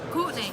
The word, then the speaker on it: Courtenay: It's Courtney. Courtney, sorry. It's Courtney.